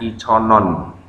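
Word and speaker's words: 이천 원: mata uang Korea Won namun cara bacanya bukan Won ya karena dia bertemu huruf mati n pada kata ion Nah maka ketika digabung dengan Won cara bacanya iconon iononyo bawahnya dasot Juseo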